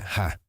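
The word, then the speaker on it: ห้า: En tailandés el número cinco se pronuncia ja, así que en lugar de escribir jajaja, los tailandeses a veces escriben 555.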